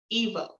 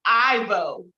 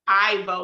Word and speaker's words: Irvo: name, even though it's spelled Irvo, it's pronounced Evo. Evo. I'm sorry, that's wrong. Woo, woo, woo, woo, woo. It's pronounced Ivo. Ivo, like the R is silent.